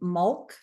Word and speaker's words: Mahlk: You would call me Mul in your world. You would spell it M A H L K.